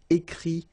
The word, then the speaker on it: écrit: Okay, remember, you put this T, you don't pronounce it. Écrit, dit. All right?